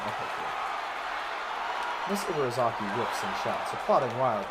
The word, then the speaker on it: Ibarazaki: That is how you pronounce her name, okay. Miss Ibarazaki whips and shouts, applauding wildly and generally looking like any other parent cheering on their child.